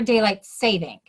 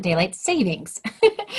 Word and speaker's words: daylight saving: that daylight savings or daylight saving stay tuned it is actually pronounced correctly as daylight saving and not daylight savings hi my name is